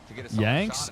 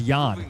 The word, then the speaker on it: Jan: His real name is Jan, not Yan.